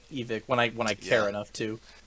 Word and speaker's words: Evike: products, whatever, he says, you can all get all this from Evic. I was like, oh shit, we have been saying it wrong. So I tried to switch, but it sounds so weird. Saying Evic. Yeah, that's because I always said Evike as well.